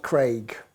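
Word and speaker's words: Creagh: It's Michael Omore Craig. Craig. That's right. It's a funny spelling. Why why I sort of hesitated went there is his name is spelled C R E A G H.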